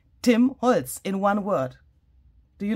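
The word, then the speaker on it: Holtz: But it's written a little differently than Tim's last name, but you say it the same way, you pronounce it the same way. So Tim's last name is, of course, written like this, Holz. If you translate timber to German, it's written like this. But you pronounce it exactly the same.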